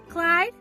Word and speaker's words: Clyde: him toward her ear clyde what a nice name it rhymes with slide and that's what you have to do slide the tray along the counter okay clyde slide she chuckled okay